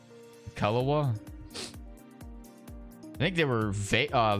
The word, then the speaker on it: Kelowna: do you pronounce it kelina kalawa I think they were uh Vancouver but they may have changed k-e-l-o-w-n-a so it's like the calendar Rockets I think is